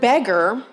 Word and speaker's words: beggar: An interesting one, the word beggar, which you can, B-E-G-G-A-R, borrowed in from French. But if you hear it, it sounds like it has an E-R ending.